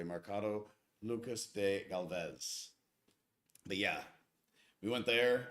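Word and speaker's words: Mercado Lucas de Gálvez: traveling squirrel nailed it marcato lucas and i apologize for pronouncing this correctly mercado lucas de galvez but yeah we went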